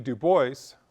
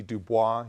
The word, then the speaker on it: Du Bois: Du Bois, someone who, a lot of you may see Dubois, you see the name, it's Du Bois, that's the way his family pronounced it.